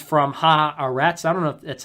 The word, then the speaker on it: Haaretz: care people are going to be actually it's pronounced this way it's harrett's and it's the forward two israeli media companies